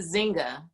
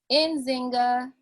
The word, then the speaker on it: Nzinga: Or is it Zinga? Do you not pronounce the N? And Don? We say the N. You say the N. Can you pronounce it for me? Nzinga.